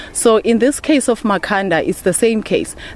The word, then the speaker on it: Makhanda: in this case of makanda is the same case they could not pronounce makanda and his name then was tend to Makana okay and I'm just